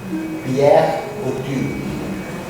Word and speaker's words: Pierre Bourdieu: Pierre Bourdieu. French is French, not English.